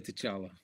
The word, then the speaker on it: T'Challa: I always imagine it with the T vocalized.